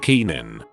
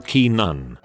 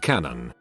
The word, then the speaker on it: Canaan: not in the know it's pronounced Keenan or Keenan she decided to pronounce it Canon Canon not only is she